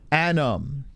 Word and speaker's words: Anam: and my name is pronounced like adam but with n sound adam anam yeah i'm trying to